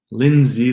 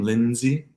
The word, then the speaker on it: Lindsay: And then we get even 2-syllable words like depends, windshield, windmill, handsome, Lindsay, the name Lindsay, and bandwidth, bandwidth. No D in those words.